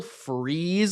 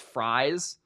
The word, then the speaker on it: Fries: type of edge rusher will freeze I believe is how you actually say his name I don't think it's fries I've always kind of